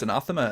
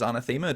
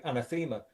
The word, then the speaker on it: Anathema: On the Crackoff DVD, uh, you pronounce Anathema as anthemma. Did you do that as a joke?